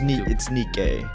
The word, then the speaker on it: Nike: Well, it's Nike. That's how you pronounce it.